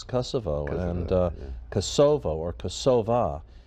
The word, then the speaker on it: Kosovo: um International Way is Manifest yeah it's it's Kosovo and uh Kosovo or kosova and it takes